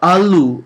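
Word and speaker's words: ਆਲੂ: for potato which is Alo now for ALU you have a long a sound so you need to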